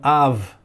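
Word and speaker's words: אב: Então Av é a pronúncia ali. E tem o Kamatz, né, como eu já disse, Av, que significa pai, escreve com Kamatz e também escreve com patá.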